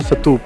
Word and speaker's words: स्तूप: अब मैं इनको स्तूप क्यों बोल रहा हूँ, जो उनका सही प्रोनाउंसिएशन यही है। उनका प्रोनाउंसिएशन है स्तूप, ना कि स्तूपा। स्तूपा ये संस्कृताइज वर्जन है, बट प्रॉपर पाली प्रकृति के अंदर में इसे स्तूप कहा जाता है।